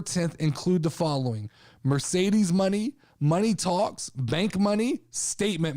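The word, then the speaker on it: Moné: it's Mercedes, MONE apostrophe, which I'm assuming is Mercedes money, but it looks a lot at first glance like I was pronouncing this all morning, Mercedes moan.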